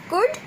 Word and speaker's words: could: We will pronounce could, would, should, okay, because L is silent here.